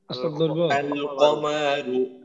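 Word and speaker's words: القمر: কমারু তো এইখানে দেখেন এইখানে আমরা লামটা পড়তেছি তাই না এখানে কিন্তু লামটা আমরা বাদ দেইনি আর ওইখানে আমরা লামটা বাদ দিলাম তো এই এই দুইটা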